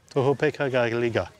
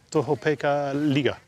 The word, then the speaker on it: Tohopekaliga: Tohopeka-ga-liga. Again? Tohopeka-liga.